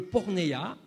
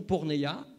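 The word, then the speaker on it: πόρνη: juste sur le dictionnaire c'est le mot grec qui se prononce et forcément quand vous endez porne ça fait penser à porno et tout ce qui suit c'est le mot porne et le dictionnaire nous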